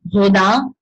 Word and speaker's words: Rodin: August Rodin. That I pronounced properly because French.